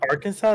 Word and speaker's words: Arkansas: Wait, it's pronounced Arkansas, not Wait, Arkansas?